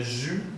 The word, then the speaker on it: jus: café l'eau l'eau le jus d'orange on ne prononce pas le S on ne prononce pas